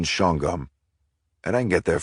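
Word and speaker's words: Shawangunk: Actually, Tara, we Hicks up here pronounced the prison shongum.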